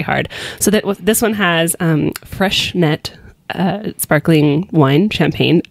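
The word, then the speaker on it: Freixenet: So this one has fresh net sparkling wine, champagne. I always thought that was pronounced like Frexnet. I could never pronounce it, but Freshnet.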